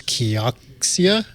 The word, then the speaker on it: Kioxia: Well, first, the main theme, I think, was how to pronounce Kioxia.